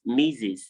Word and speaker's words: Mrs: It's pronounced Mrs. The word M-I-S-S-U-S, Mrs.